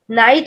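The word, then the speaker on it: knight: तो इसका मीनिंग भी अलग है और स्पेलिंग भी अलग है, बट द प्रोनाउंसिएशन, हम इसको कनाइट थोड़ी बोलते हैं, नाइट ही बोलते हैं.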